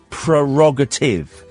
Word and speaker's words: prerogative: It's my prerogative is how the word is spelt, and indeed how the word is said.